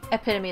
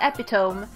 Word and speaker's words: epitome: oh sorry epitome epitome it's not epitome even though it looks like it's felt like that it's actually epitome because apparently you pronounced to eat even though there is no sign whatsoever of the fact that you should be doing it because there's no excitement